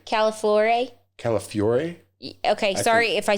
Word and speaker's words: Calafiore: Calafiore.